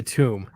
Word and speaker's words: tomb: a gently drawn coffin it won't be a tome it'll be a tomb whenever i hear people pronounce it that way i'm like no that's it's not the same thing but yeah that's awesome